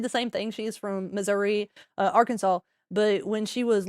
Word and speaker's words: Missouri: So it's misery. Missouri.